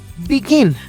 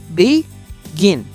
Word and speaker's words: begin: Pero ¿cuál es la que suena con más fuerte? Begin. La última, no es begin, ¿ok? Nota la diferencia entre begin, que es la forma correcta de decirlo, y begin, ¿ok?